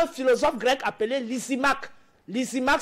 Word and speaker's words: Lysimaque: Lysimaque s'écrit L-Y-S-I-M-A-K-E.